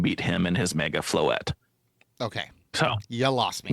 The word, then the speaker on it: Floette: set is the Mega Follette EX. Close. Floette. Floette.